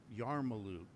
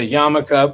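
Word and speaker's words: yarmulke: So, stop saying yarmaluke. It's a yam. Well, then thanks for that. It's a yamaka, but but say this because it's less syllables.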